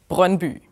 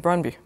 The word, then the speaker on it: Brøndby: So the Danish pronunciation is Brøndby. So that's a bit difficult. Okay, I don't think I could do that. I think you could manage by saying Brøndby. Brøndby, so okay.